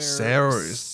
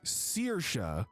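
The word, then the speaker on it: Saoirse: Sayers is the name. It's my name. Sayers? Pronounced Searsha.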